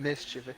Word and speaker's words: mischievous: There is no second. Like that mischievous is the proper way to say it.